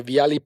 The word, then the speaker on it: Viale: Am I pronouncing the Viale part right?